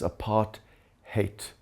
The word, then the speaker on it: apartheid: Apartheid is an Afrikaans word, which in English comes across as apart-hate. And I think the English pronunciation explains it better than the Afrikaans one.